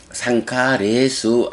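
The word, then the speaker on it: saṅkhāresu: 그래서 상카라, 행의 복수인 상카라 길게 발음하고, 그 복수의 척격이 되면 상카레수라고 발음하게 되죠.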